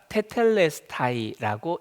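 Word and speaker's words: τετέλεσται: 또 여기서부터 읽으신 분 계시는데이 헬라어가 테텔레스타이라고 읽어요.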